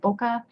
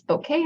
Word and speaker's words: bokeh: I was calling it bokeh, but it's bokeh, I guess. And it's a Japanese word which means like blur or haze.